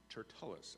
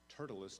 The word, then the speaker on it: Tertullus: with the elders and a certain orator named Tertullus. I'm going to pronounce it Tertullus. Tertullus just doesn't sound right.